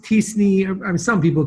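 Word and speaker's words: t-SNE: It's pronounced TSNE. I mean, some people call it TSNE or TSNE.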